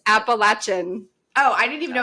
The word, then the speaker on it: Appalachian: of the trail is it is pronounced appalachin you are correct cool anyway sorry to